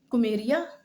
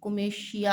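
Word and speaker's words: Comitia: उसका बात बता रही हूं उसको कोमेशिया कुमेरिया नहीं कोमेशिया है बेटा ये।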